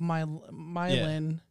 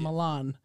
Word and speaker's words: Milan: Just Kind of like Milan and Milan in Tennessee. Yeah, I worked in Milan, Tennessee, which is spelled like Milan.